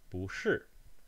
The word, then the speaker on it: 不: So the first syllable of this phrase, 不是, 不, has a consonant and a vowel, and of course a tone, a rising tone, 不.